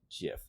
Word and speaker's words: GIF: of the GF format it is pronounced GIF with a soft G sound I'm never gonna remember